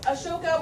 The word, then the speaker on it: Ashoka: So, Ashoka, which is also spelled A-S-O-K-A, but I picked this one because it makes you pronounce it right.